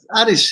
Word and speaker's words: Aris: It's easy. It's Aris. You just say Aris. Like the Saloniki is the city that it's in. So a That's lot in of people Greece. just say Aris.